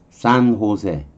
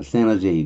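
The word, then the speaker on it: San José: 스페인어 J는 H로 발음해요. H는 발음을 안 하고요. 그래서 여러분이 이런 이름 아시잖아요. 산호세 아시나요?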